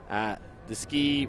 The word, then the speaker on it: Deskeagh: Yeah, the EAGH, I've been told, is pronounced Deskeagh, as in Clonyskeagh, an area in Dublin.